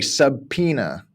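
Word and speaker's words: subpoena: that from that accent when we say subena so we totally forget the the O otherwise uay would be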